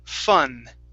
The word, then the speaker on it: fun: the word fun okay now here it sounded like you pronounced an m okay at the very end okay so remember the